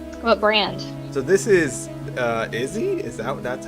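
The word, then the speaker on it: IZZE: So this is Izzy. That's how it's pronounced?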